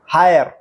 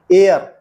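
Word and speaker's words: heir: और पता लगाइए कि कौन से अक्षर अनुच्चित साइलेंट हैं। Asthma, हायर, Iceland, doubt, Ryan, wrapper, वेनस्टे। जी नहीं, ये asthma, हेयर, island, doubt, रियग्न, व्रापर, Wednesday नहीं है, ये है एस्मा दमा, एयर उत्तराधिकारी, आइलैंड टापू, डाउट शक, रेन राज्य, रैपो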